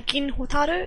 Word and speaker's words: Gin Hotaru: Oh, the names are Gin Hotaru. It's said in Japanese pronunciation, so the vowels are a bit different.